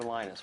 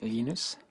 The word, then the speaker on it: Linus: When I speak Swedish, it's Linus. When I speak Finnish, it's Linus. When I speak English, it's Linus. And I really don't care how people pronounce my name.